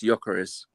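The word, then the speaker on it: Gyökeres: that's what I hear it's Yaris it's Swedish I think the G Sil I take him oh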